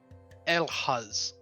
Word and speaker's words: Elhaz: Oh, it's pronounced uh Elhaz in uh the original Scandinavian.